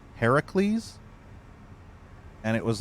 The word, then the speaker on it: Heracles: His true pronunciation in Greek mythology is Heracles, but I pronounced him Heracles for some reason, like shackles.